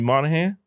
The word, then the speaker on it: Moynihan: This is my boy, Jimmy Moynihan. Did I say it right? Yes, you did. Dude, I always worry about mispronouncing people's names.